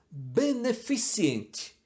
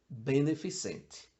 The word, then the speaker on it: beneficente: vai falar sempre meteorologia beneficiente Essa é uma das campeões de pronúncia errada não existe o i depois do C Apesar de que convenhamos